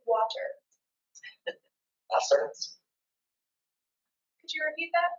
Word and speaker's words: Wasser: Wasser. Could you repeat that a couple more times? Wasser. W-A-S-S-E-R in English letters. But again, the W is pronounced as a B.